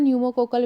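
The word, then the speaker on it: pneumococcal: बात करते हैं अपन न्यूमो कोकल वैक्सीन की जिसको हम बोलते हैं पीसी भी वैक्सीन जिसको पी जो होता है वहां पे साइलेंट होता है और न्यूमो कोकल वैक्सीन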